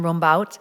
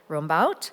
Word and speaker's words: Rumbaut: particular, and as President Frank mentioned, to Ruben Rumbaut, now that I know how to pronounce the name properly.